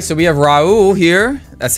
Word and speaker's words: Raul: get into this all right so we have Raul here that's how you pronounce it right yeah yeah yep we are